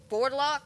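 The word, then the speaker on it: Wurdulak: to say the vordlock which is spelled I kid you not w-u-r-d-u-l-a-k but it's about like board lock or something like that it's in the 19th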